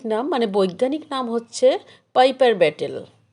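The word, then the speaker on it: Piper betle: মানে বৈজ্ঞানিক নাম হচ্ছে পাইপার ব্যাটেল অনেকে অবশ্য পাইপার ব্যাটলেও উচ্চারণ করে কমন ইংলিশে এটাকে অবশ্য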